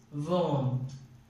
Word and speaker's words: warm: And the correct pronunciation is worm.